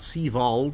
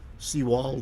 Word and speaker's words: Seawald: It's not Sevald, it's Seawald with a W.